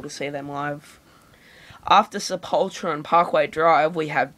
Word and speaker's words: Sepultura: It's pronounced Sepultura, not Sepultura, alright?